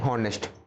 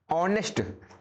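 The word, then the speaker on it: honest: अगर यहां पे एच लिखा है तो उसे कहते हैं हॉनेस्ट। तो हां नहीं होता है। ये होता है क्या? आ। एच होता है हमारा साइलेंट। तो क्या होता है? ऑनेस्ट।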